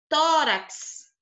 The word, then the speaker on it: tórax: Tórax. Tá aqui o tó, é a mais forte. Urax é a última sílaba e o tó é a penúltima.